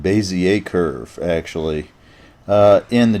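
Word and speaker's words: Bézier: I'm sorry it's called basier Curve actually uh in the Java J a2d this is a cubic curve and it's a cubic curve function but here it's Bas curve and that's a French word so that's pronounced Bay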